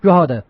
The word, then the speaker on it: Drogheda: Pronounce it. What the Drogheda? Drogheda, yeah.